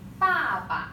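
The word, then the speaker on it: 爸爸: Next one is 爸爸. You see the toneless, the neutral tone. So try to say it very short.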